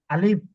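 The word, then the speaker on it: ألف: জি আলিফ না এটা টান হবে না এটা দ্রুত একটু আবার আবার আলিফ এটা কোন টান হবে না যত তাড়াতাড়ি উচ্চারণ করতে পারেন আলিফ আলিফ যত তাড়াতাড়ি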